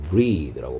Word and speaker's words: breathe: breathe라고 발음한다 했고, 이건 동사였습니다.